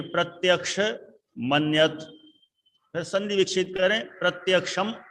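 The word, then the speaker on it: प्रत्यक्षमन्यत्: प्रत्यक्ष मन्यत, देखो सही उच्चारण तो प्रत्यक्ष मन्यत है। अब कई लोग अलग अलग रूप में बोलते हैं, प्रत्यक्षम अन्यत है, लेकिन प्रत्यक्ष मन्यत।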